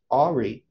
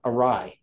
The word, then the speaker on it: awry: to go ahead's breath Ari now the word is awry right that's it I pronounced that word wrong for all my life anyway awry from that